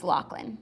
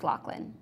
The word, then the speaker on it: Loughlin: It's spelled Loughlin, but it's pronounced Locklin. But it's a G and an H. But it's pronounced Locklin.